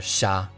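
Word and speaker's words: 者: these two Kani letters pronounced as nin and either sha or ja the second Kani is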